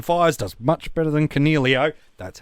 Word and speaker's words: Coniglio: I hope your captain Fires does much better than Coniglio.